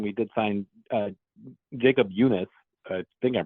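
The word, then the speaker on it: Junis: which uh when we did sign uh Jacob Eunice I think I'm pronouncing that correctly oh yeah that's right you are yeah Jacob yunice has been one of the guys that we've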